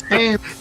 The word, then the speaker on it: Hamish: right, it's Hamish. Pronounce it right.